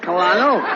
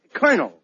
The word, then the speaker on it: colonel: a pretty high run no no no not colano it is no no you see that word is pronounced colonel colonel yes Colonel where did he fight oh